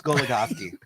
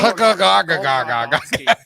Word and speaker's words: Goligoski: Alex Goligoski. How did I pronounce it before we started last week? Incorrectly. Gugagagoski.